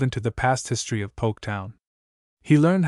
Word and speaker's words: Poketown: Through the years the silent L in the original settler's name had been lost entirely. But the post office agreed to put it back into the name, and a big signboard was painted and set up at the dock. Poketown. It sartain sure looks a whole lot different, even if ye do pronounce it the same, admitted Walkie Dexter.